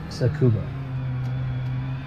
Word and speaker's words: Tsukuba: I say Tsukuba, like scuba, but Tsukuba. Do you say scuba or Tsukuba? Tsukuba.